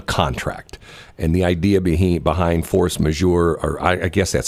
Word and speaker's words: force majeure: Force majeure.